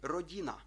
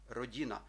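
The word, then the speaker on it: rodina: звук р у слові Родіна Родіна теж читаємо його рівненько як Коруна новини родина не казати родина Так моя родина це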